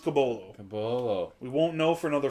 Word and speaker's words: Caboclo: cabolo spell caboclo but we've been told it's pronounced cabolo we won't know for another four years potentially